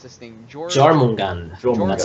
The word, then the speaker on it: Jormungand: Akamaru, would you like to take how do you pronounce this thing? Jormungand. That's how I pronounce it. Jormungand.